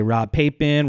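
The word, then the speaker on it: Rob Papen: up Chris foreign Rob Poppin plugins and I believe that is the right way to say his name Rob Poppin people say Rob papin Rob Poppin or have no idea how to say it I think robot Drop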